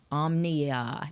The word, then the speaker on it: Omnia: and he says Omnia it's like Omni hotel with an a Omnia that's how it's spelled